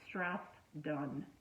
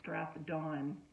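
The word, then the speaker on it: Strathdon: with your pronunciation of strath done or strath dawn just separate them like two words rather than trying to run them together so instead of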